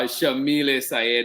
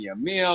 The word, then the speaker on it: Yamile: that we're with um uh shamiles mendes and that name too i love saying it so much because now i know i'm saying it correctly at least but i remember the first time i think i kept saying your meal or this where does